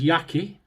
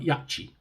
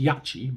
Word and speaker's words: Yaqi: go look at this this is yaki right yes yaki not yatchy it's pronounced yachi but we're not chinese so we're not in china in my language it's yaki so i'll call it yaki yaki silver tip high